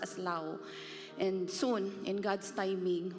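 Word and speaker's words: Laos: will send a team to Lao Uh we pronounce that as laus here But it is pronounced as Lao and Soon in God's timing hopefully Myanmar because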